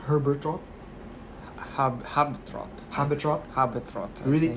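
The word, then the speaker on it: Habetrot: Habitrot.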